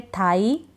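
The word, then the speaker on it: thigh: अब इसमें भी ऐसा ही है, थाई, I के बाद GH है, नॉटी, AU के बाद GH है, तो हम नहीं पढ़ रहे हैं, ठीक है।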